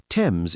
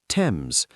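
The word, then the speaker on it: Thames: Tames is pronounced Tames.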